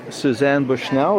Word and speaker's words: Suzzane Bushnell: I'm here at the Vintage Fashion Show, and I'm talking to Suzzane Bushnell. Is that the right pronunciation?